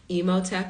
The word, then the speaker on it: Emot: I said I'm emot is how you pronounce my last name I'm emot writer and director of